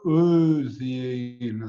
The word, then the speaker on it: Özyeğin: Özyeğin. So the G is not pronounced; it's mute G, let's say.